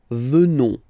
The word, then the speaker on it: venons: Final S not pronounced, so you will get the sound venons.